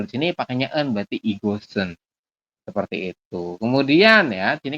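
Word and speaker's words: 이것은: Nah, tulisnya kan igot sama dengan en. Kita bacanya igosen. Jadi shiotnya nanti naik ke sini.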